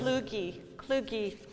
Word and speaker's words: Kluge: Kluge. Yeah, I know, it's tough. Sorry, I have. Rhymes with Scooby.